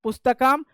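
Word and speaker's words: पुस्तकं: हमेशा हमेशा याद रखना जब अंत में अंत में ही ज्यादातर संस्कृत में मिलेगा अंत में जो है अनुस्वार लगा रहे किसी वर्ण के ऊपर तो उसका मतलब होता है वह म का उच्चारण ध्वनि देता है ठीक है तो आप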